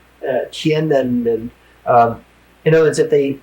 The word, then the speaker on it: Tiananmen: I said, even if they kill everybody who was ever in Tiananmen Square, and I'm one of the few people that pronounce it correctly. It's hard to get that M in. Tiananmen.